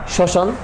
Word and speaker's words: শ্মশান: পদ্য সূক্ষ যক্ষ ওকে শ্মশান স্মরণ কোনটাতেই তোমার মর উচ্চারণটা আসে না শুধুমাত্র ম ফলযুক্ত যেমন